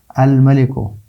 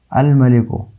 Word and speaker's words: الملک: حرف قمری ہے۔ الملک، الملک، لام کا تلفظ ہوتا ہے تو میم کیا ہے؟